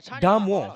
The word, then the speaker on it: Damo: Nama Dharma kat sana. Body Dharma. Ya, body Dharma. Damo. Dia sebenarnya Damo.